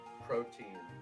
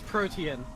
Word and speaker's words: Protean: Protein. That's what I was thinking of. Protean? Protein. Yeah. It's not called Protean, it's called Protean. It's literally spelled P-R. Yes, but it's pronounced Protean.